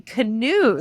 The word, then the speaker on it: Knuth: So it's actually Knuth. Oh, Knuth. I pronounced it Knuth for like the first 6 months I dated my husband.